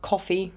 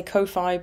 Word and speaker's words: Ko-fi: my Kofi account now I know it's officially I think pronounced coffee because it's meant to be like you buy someone a coffee on coffee I say Kofi because I think it sounds like Lo-Fi and I really like